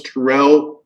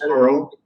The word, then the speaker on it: Tyrell: let's see a douglas tyrell um uh i know i'm gonna mess up your name douglas even though we went over that douglas laurel no terrell you said it right oh okay thanks uh